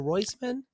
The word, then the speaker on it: Roisman: so funny Anna it's Anna royman is it royman it is yes thank you you nailed it